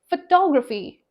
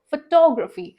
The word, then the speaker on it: photography: First word was photograph, And second, photography. Now, see here, stress is on the word to, photography.